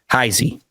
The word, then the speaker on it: Nate Heisey: I've been saying his name wrong. I've been inconsistent with his name. Heisey.